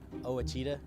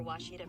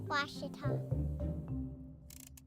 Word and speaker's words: Ouachita: oh Akita soon for Washita Baptist University back in Texas everybody pronounces it Wichita but really it's Ouachita Washington how would you pronounce it it's Ouachita Baptist University it's Ouachita people it's Ouachita Washita welcome back to